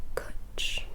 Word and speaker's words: cwtch: Alright, so the first word is spelt C-W-T-C-H, I believe, which is pronounced cwtch. Cwtch. C-W-T-C-H, yeah. So think of Ashton Kutcher, which essentially means cuddle.